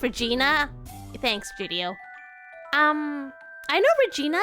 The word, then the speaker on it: Regina: Regina is like, it's pronounced Regina.